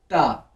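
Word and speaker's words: ط: Then आपने कहना है ता, लेकिन ये ता नहीं है, ये है तो। मोटा पढ़ना है इसको, मेक इट हैवी।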